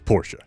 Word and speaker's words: Porsche: He would tell you they say Porsche. It's Porsche.